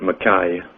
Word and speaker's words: Mackey: Albert Mackay, or Mackey, as I like to pronounce him over here, wrote a 2-volume book on Freemasonry, encyclopedia.